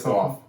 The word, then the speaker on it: Gauff: So I'm not 100% how to pronounce her last name. Gauff, I guess. It's Gauff.